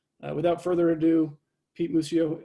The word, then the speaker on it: Muccio: without further ado pete mucio am i pronouncing your name your last name right uh pretty close yeah it's mucho muccio okay all right well